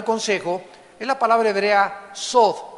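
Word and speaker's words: סוד: es la palabra hebrea sod, S de Samuel, O, D de Daniel, TH. La TH en hebreo se pronuncia como una D de Daniel, sod.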